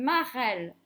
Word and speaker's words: marelle: Une sucette, un verre, une marelle, maîtresse, reine. Comment est-ce qu'il se prononce ce E qui est suivi de deux consonnes et d'un E? Eh bien, il se prononce est.